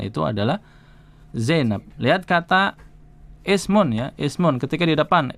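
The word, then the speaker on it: اسم: Hamzah wasal itu kalau di depan tidak dibaca. Kalau di tengah-tengah suatu ucapan dia eh kalau di depan dia dibaca. Kalau di tengah suatu ucapan dia tidak dibaca.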